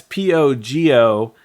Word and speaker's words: pogonotomy: self-aware and living a life all to themselves is spelled yeah it's pretty close uh it's p-o-g-o-n-o-t-o-m-y ah so it's omy okay yeah uh so